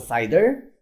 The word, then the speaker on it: CIDR: so classless inter-domain routing we pronounce a cider or simply put cibr